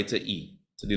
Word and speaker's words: y: saying Tyrese is that the letter y in Spanish which is pronounced e is equal to the